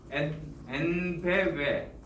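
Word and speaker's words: EnBW: 그리고 독일의 그 엔베웨, 그러니까 영어로는 ENVW인데요. 그 독일 발음으로 W는 외거든요.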